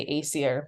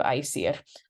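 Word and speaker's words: Æsir: of burning him so sometimes I'm going to say Acer because that's just the anglicized version sometimes I'll do the proper pronunciation of I see it I'm not going to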